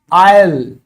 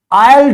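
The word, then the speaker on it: I'll: में आप कहो ये, यानी कि आयल, आयल डू इट, आयल डू इट। बोलकर देखो, आई विल डू इट कोई नहीं कहता इंग्लिश में।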